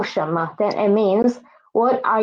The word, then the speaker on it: 什么: Next one is 什么什么诗人神 mo and this mo is neutral tone.